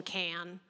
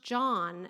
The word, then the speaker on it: Can: So then we all called him can until he eventually worked up the nerve to tell us actually it's pronounced John as in John.